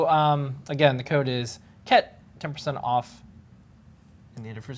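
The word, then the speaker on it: KHET: The first thing is, the code is, how do you think you pronounce this? Ket.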